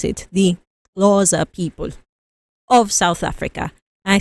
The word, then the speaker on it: Xhosa: I think in the language, there's like 5 critical clicks.